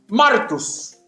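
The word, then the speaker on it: μάρτυς: da judicialmente o generalmente, deriva del término que se pronuncia martus, en castellano, mártir, o sea, un creyente abnegado.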